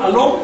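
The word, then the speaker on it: Alom: Da primero cuatro nombres que son, todos se pronuncian agudos hasta donde yo sé. Si alguien me puede corregir, adelante. Se llama Sacol, Vitol, Alón y Cajolón.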